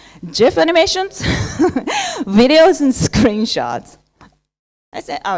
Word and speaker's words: GIF: images screenshots gif animations I pronounced it Jeff so don't argue with me Jeff animations videos and screenshots